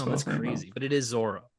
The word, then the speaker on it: Zoro: crazy but it is Zoro it is Zoro in the anime he's Zoro in the live action show he's Zoro and the Creator even says like just pronounce it Zoro un toys his Zoro